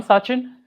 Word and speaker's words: Sachin: about yourself and uh and also the proper pronunciation of your name maybe yeah sure uh so I'm sain um basically I'm from India so it's a